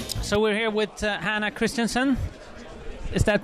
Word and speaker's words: Christenson: so we're here with Hannah Christensen is that pronounced correctly yes that's correct I hear a